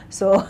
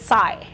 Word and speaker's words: Sai: consultant Sy Voyage Africa did I pronounce that right s or is it Sai it's Sai Sai Sai Voyage Africa uh there was